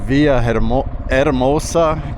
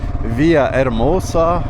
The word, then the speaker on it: Villahermosa: It's Monday morning and I am just heading out of Via Eramosa. Keep forgetting to not pronounce those H's. Via Eramosa.